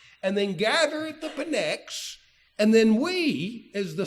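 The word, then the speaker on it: Pnyx: Sometimes the P is silent the way people say it, but most of the time it's pronounced Pex.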